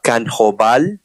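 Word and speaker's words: Kanjobal: the dialect sure thing your honor is uh can hoval and it's spelled k n i'm sorry k a n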